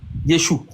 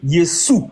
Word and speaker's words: Yeshu: Si les juifs ont dit qu'il s'appelle Yeshou, les Grecs ont dit qu'ils s'appellent Yesou parce que les Grecs aussi n'arrivent pas à prononcer le CH. Donc eux à la place de ch ils vont dire c S. Donc les grecs à la part de Yeshou, ils ont dit Yesou, tu vois ?